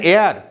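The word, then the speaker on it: heir: an hour এক ঘন্টা এন এয়ার একজন উত্তরাধিকারী এইচ উচ্চারণ হচ্ছে না হেয়ার উচ্চারণ হচ্ছে না এন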